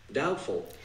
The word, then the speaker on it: doubtful: Ó, o B esquece, é um B mudo, você não vai pronunciar esse B. O T é muito sutil, é praticamente imperceptível. Eu falaria simplesmente doubtful, doubtful. Mas tem um Tzinho ali bem de levezinho.